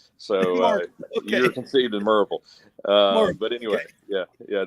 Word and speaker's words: Maryville: One, it is spelled Maryville, but if you live in Knoxville, it's called Merville. So, Merville. So like most of the natives in East Tennessee call it Merville.